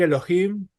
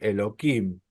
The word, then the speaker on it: Elohim: porque consideran que decir Elohim es algo muy sagrado y no quieren pronunciarlo para no usarlo en vano entonces en vez de decir Elohim dicen eloim pero es eso ya